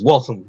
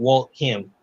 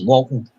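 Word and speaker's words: Waltham: yeah and it's w and it's walam not Walt him it's walon I had a whole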